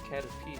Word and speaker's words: Caterpie: It's Caterpie. I hate you. Oh my god, bro. It's Caterpie. I'm gonna murder you. Do it then, pussy. Why is this Caterpie tanky?